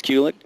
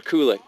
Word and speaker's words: Kulick: and we have Bruce Kulick over here is the house pronounced kulick or Kulik because I've heard it pronounced so many I'm cool with Kulik or kulick cool it kind of